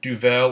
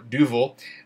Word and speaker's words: Duvel: I'm going to drink it out of this either Duvel or Duvel, to use a really American pronunciation, this tulip-shaped goblet.